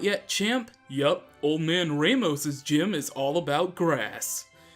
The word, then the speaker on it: Ramos: Okay, by the way, yes, I pronounced Ramos differently, because Ramos is how you pronounce it.